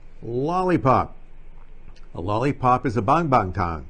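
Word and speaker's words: 棒棒糖: a lollipop is a bonbon Tong it's not a bang bang tang but most Americans when they see a ng they pronounce it bang but in Chinese it's a soft a bond that's easy for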